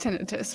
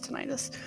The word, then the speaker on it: tinnitus: Oh yeah, it's pronounced tinnitus, but everyone says tinnitus.